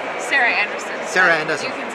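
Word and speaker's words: Sarah Andersen: What is the right pronunciation? Sarah Anderson.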